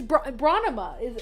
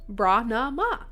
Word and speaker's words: Branama: And if anybody's, it's Bronema is how it is, and it's spelled Branama. Bronema.